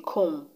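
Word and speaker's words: comb: not pronounced for example the b in com is not pronounced c-o-m-b the b is not pronounced the b in limb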